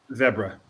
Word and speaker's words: zebra: Zebra. Thank you. Thank you Right. very much. Rhymes with Deborah.